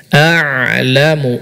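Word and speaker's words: أَعْلَمُ: Yang pertama, huruf ain diucapkan dengan baik seperti ma anta bi ni'mati rabbika, bukan hamzah atau setengah hamzah setengah ain. Ya, enggak tahu huruf apa itu. Hamzah enggak, ain enggak. A'lamu, a'lamu.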